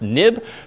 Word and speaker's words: XIB: have what's called a nib file even though it's xib it's historically pronounced nib being next step interface